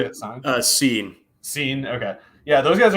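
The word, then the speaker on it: Cine: Sine?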